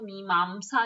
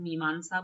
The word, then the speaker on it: मीमांसा: उसी तरह से इंग्लिश में लिखा जाएगा तो मीमांमसा लिखा जाता है लेकिन मीमांसा बोलते हैं तो उस पे आप मत जाइए कोई भी स्पेलिंग चल जाएगी।